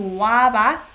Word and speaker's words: 와봐: So try to pay attention to 와봐. Now that you know it's two syllables.